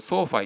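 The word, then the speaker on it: SoFi: みますとえっとこれソーファって読むんですけどソーシャルファイナンスの略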